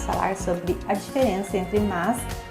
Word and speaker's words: mas: Aqui, apesar de ser o mas sem o i, é comum falarmos mais na pronúncia, principalmente quando falamos mais rápido.